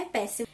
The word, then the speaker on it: Pérsio: falava você sabe que não é a pronúncia é Pérsio então a gente nesse